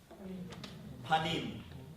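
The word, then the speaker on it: פָּנִים: Panim. Right? Panim. Do you know how you say the internal self in Hebrew? Pnim. Pnim means your insides. Panim means your outside, your face. Your face, panim, and your pnim are the same word.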